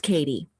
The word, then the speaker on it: Katti: So, so those of you listening, my name is spelled Katti, but it's pronounced Katie.